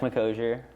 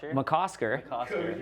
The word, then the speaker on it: McCosker: cool big thanks to mccosier you mispronounced my last name really bad mccosker nailed it chad mcconnell that's all